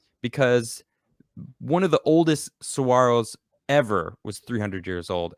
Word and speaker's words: saguaro: just dumps water so saguaros are really cool saguaro cactuses pronounced saguaro i i know how to pronounce